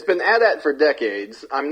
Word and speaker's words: AT-AT: they'll come around to the true pronunciation, which is and always has been addat. Adat, which they don't say it in any of the movies, correct?